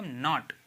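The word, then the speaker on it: knot: okay N ओ टी के एन ओ टी तो इसको क्या पढ़ेंगे प्लॉट नहीं कहेंगे इसे इसे कहेंगे नॉट इसे नॉट पढ़ते हैं ठीक है नो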